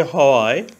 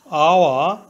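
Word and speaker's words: hour: আওয়ার আওয়া অর্থ ঘন্টা এখানে আওয়া এর প্রথমে এইচ কনসোনেন্ট এইচ এর উচ্চারণ হয় বাংলা হ এর মত প্রথমে এইচ ধরে উচ্চারণ করলে হয় হাওয়া কিন্তু এইচ এর উচ্চারণ না হয়ে ভাওয়েল ও থেকে উচ্চারণ শুরু হয়েছে আওয়া এইচ এর উচ্চারণ অন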